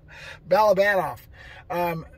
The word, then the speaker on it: Balabanov: Balabanov.